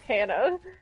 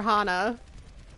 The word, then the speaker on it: Hana: You should actually look up Hannah. Like my Hannah username. Or Hana? Well, it's pronounced both ways, but Hana would probably be more popular.